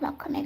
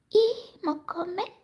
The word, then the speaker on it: Mokume: haven't, this is not Mokume Gane, but this is somewhat yet.